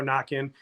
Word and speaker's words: Naquin: We laugh because it's Tyler Knockin. It's spelled the same as Tyler Naquin, the hitter that's now a pitcher.